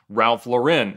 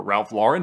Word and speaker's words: Ralph Lauren: We're going to appraise the car collection of Ralph Lauren, or Ralph Lauren, depending on how you say it.